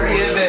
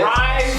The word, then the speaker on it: Riebes: it's not Reeves. Rives, Swear.